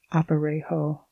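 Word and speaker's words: aparejo: The government uses a Spanish pack saddle or what is known as an oparejo pronounced oparejo but civilian packers often use the cross tree saddle.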